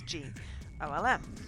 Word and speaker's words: GOLM: He has to be referred to by the last bit, which of course is GOLM. Much to his surprise, this ends up being pronounced like golem anyway.